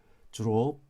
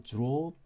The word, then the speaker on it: drove: 이 드르가 이게 주루 이런 식으로 거의 가깝게 발음이 되는데 드와 G의 거의 중간 발음으로 drove. 그렇죠? drove. 나는 운전했다. I drove to work today.